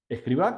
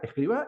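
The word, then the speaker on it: Escrivá: mismo, es que él se llamaba José, aparte, María, Escribá con B larga y Albaz. Y pasó a ser José María Escribá con B corta y acento en la A de Balaguer. Motivo, ignoro.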